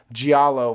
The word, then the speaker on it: giallo: Like the I've I always mispronounce this, giallo films. Giallo, giallo, the Italian horror movies.